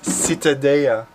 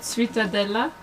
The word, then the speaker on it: Ciutadella: of prosciutto my love what do you pronounce it ciutadella seated citadel it's citadel not sweeta no it's not some sort of pastry or dessert okay sweetheart like like citadel citadel but make it holley citadel there's water on